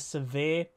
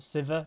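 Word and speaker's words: Sivir: the sharima thing yeah you might see a little bit of severe or siva depending how you want to pronounce it in there both are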